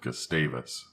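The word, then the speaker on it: Gustavus: One day he mentioned that he'd spent some time living in Juno and a small nearby town called Gastavis. That's how the locals pronounce it.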